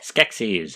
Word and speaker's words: Skeksis: It's Skeksis. Okay. Skeksis. I was close. I can't pronounce it.